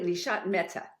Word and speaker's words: Nishat Mehta: I want to make sure that I pronounce it correctly. Nishat Mehta, right?